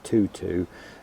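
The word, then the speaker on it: Toto: But this is Rudbeckia, called Tutu, T-O-T-O, and I presume you pronounce that Tutu, and I would certainly recommend that.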